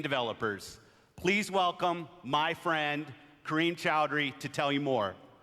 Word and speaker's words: Chowdhury: Please welcome my friend, Kareem Chowdhury, to tell you more. It's pronounced chowder.